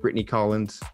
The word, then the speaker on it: Brittany Collens: and i have a great guess we have brittany collins correct that is the correct pronunciation yes thank you brittany so you are